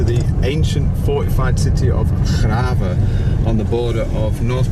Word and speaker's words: Grave: So we're headed to Graven now, like I say. You spell that Grave, so basically like the word grave.